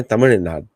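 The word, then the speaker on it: தமிழ்நாடு: अच्छा, तमिलनाडु पे बहुत फोकस है, तमिलनाडु एक्चुअली करेक्ट प्रोनाउंसिएशन है तमिलनाडु।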